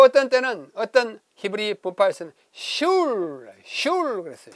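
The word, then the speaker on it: שול: 그 사람들은 말하기를 회당을 슐 그랬어요. 발음하면 슐이에요.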